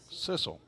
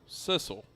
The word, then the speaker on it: Sissel: Julie Beal checking in on Facebook says pronounced like missile, but with a beginning S sound. Sissel. Sissel.